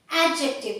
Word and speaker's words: adjective: Adjective मैंने D को silent किया, adjective बोला है. D साइलेंट है, adjective. Okay?